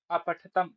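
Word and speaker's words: अपठताम्: अब जैसे क्या बोला गया अभी अपठत अपठतम या अपठत अपठताम होता है ना तो अपठत अपठताम यहां पर ठकार का जो आकार होगा ना उसका उच्चारण भी करना है तो अपठत अपठतम अपठन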